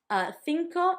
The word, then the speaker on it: cinco: Cinco, number 5, had the thi and it also had the co.